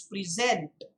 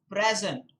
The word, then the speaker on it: present: noun now there is notice that there is a difference in the pronunciation when the word is used as a verb it is present to present and when it is used as a noun it is present so present the present or something like that